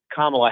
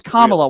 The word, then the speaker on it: Kamala: Well, I actually voted against Kamala Harris, if we're going to be. It's Kamala.